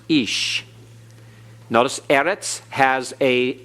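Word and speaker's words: איש: the here icky ode and so it is pronounced ish notice edits has a accent over the first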